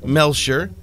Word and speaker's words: Melcher: Mercedes AMG stands for pronounced Mercedes offre melshire and grossa Spa AMG was founded in